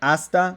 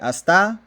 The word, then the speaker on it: hasta: be minus one point instead of saying asta we say hasta that would be minus one point for the misplaced accent and those are cumulative